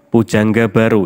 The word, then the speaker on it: Poedjangga Baroe: yang kedua majalah poedjangga baroe menggelorakan semangat kebangsaan Pujangga baru ini adalah nama majalah seperti yang tertulis disini tadi ya Ini menggunakan ejaan lama koe ini dibaca uh Bukan Pujangga